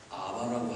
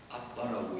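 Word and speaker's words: אבא: 단어를 아바라고 하지 않고 아빠라고 이렇게 개역 개정 성경에서 한 것은 발음을 그대로 표기했기 때문입니다. 두 번째 장음에 병강점이 찍혔으므로 강하게 발음하고, 그래서 연발음으로 하면 아바가 되지만 강발음으로 발음하면 아빠가 되는 겁니다.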